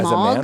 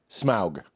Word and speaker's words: Smaug: as a Smog. man? Smog? Smaug. Smaug. Smaug. Smaug. If you're going to be the Smaug.